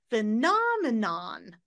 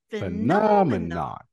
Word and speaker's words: phenomenon: four four ends up a little bit higher phenomenon phenomenon phenomenon remember make your pitch go higher phenomen